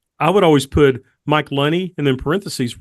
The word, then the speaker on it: Lunney: would always put Mike Loney and then parenthesis rhymes with money that way the announcer